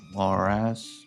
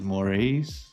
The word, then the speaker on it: Morais: Um Diane Passi Gacho Mo- Morales. Mo- Mo- wait. That's not Morales. And it didn't say Mor- This says Morais.